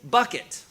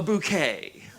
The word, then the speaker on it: Bucket: The show stars Patricia Rutled as hi bucket. Right. But she refuses to let someone call her hiestin bucket. She says, "No, it is pronounced a bouquet."